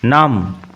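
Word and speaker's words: numb: into আমি গাড়িতে উঠলাম নাম বি সাইলেন্ট থাকে উচ্চারণ লক্ষ্য করো নাম প্যারালাইজড আই ওয়াজ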